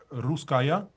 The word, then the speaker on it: Russkaja: How do you pronounce it? Russkaja. Russkaja. Okay, I've been saying the J.